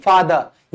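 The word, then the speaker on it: father: ये मैं कहना चाहूंगा जहां भी आप ये आखिर में आर देख रहे हैं जो आर है ना वो क्या है साइलेंट है यानी कि आप उसको प्रोनाउंस नहीं करेंगे फादर नहीं बोलेंगे इट इज ओनली फादर ये क्या है फादर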